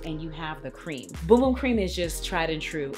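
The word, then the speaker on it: Bum Bum Cream: love boom boom cream and it's pronounced boom boom cream if you don't know that okay it's boom boom cream this is the tried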